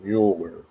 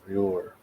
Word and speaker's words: Muir: I saying it right The Ghost and Mrs Mueller yeah Mrs Muir two things he had a ghost in Mrs Muir 1968.